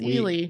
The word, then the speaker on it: Ely: And I think it was super fascinating to learn that there was pretty much one big Ely and then there was one a little bit lesser known Ely.